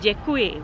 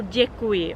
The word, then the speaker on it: děkuji: It's basically something like D and Y when you try to pronounce it. Very soft D. A good example and a very important word in Czech is the word děkuji, which means thank you.